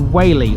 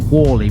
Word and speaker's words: Whaley: drive around takes us to whaley or sometimes pronounced wally by the locals this is a small